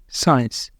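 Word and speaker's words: science: हो सकते हैं तो इन लेटर्स इन वर्ड के अंदर लेटर सी जो है वो आ रहा है एस के बाद इसलिए यह सब में सी साइलेंट है सी की हम आवाज नहीं दे रहे सी को हम बोल नहीं रहे और दूसरा हमारे पास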